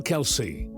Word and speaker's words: Kelce: Although the extended side of his father's family pronounces their surname as Kels, he opted for his father's pronunciation, Kelsey.